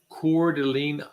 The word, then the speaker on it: Coeur d'Alene: had a chance have you ever been to cordeline Idaho I have not okay so Coeur d'Alene